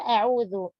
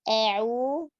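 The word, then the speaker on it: أعوذ: Pada isti'adzah ada diawali dengan kata a'udzu. Membaca a'udzu, bacalah hamzah dengan jelas dan tipis. Jangan tebal, jangan imalah, dan jangan tashil. Tidak o, tidak a'u, juga tidak au.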